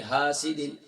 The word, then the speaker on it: حاسد: وَمِن شَرِّ حَاسِدٍ، ہا نہیں ہے، ہا ہے، اور پھر شین کے بعد را مشدد ہے.